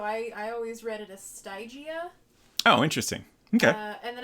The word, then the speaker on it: Stygia: The Y is pronounced like an I, so Stygia?